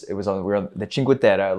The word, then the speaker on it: Cinque Terre: You pronounced that great. Thanks. Thank you. We're making progress. Um and then, you know, although that's Italian. Yeah. Yeah. But still, these these sound these sound the same.